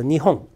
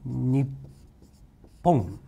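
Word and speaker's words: 日本: Japan is a Nihon. Your noun, Japan. Okay, Nihon. And all over the world, we have emphasized pronunciation. Okay? Nippon. Emphasized pronunciation.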